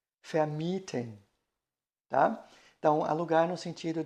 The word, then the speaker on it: vermieten: É o verbo vermitteln, vermitteln, e do verbo alugar, vermieten, vermieten, tá?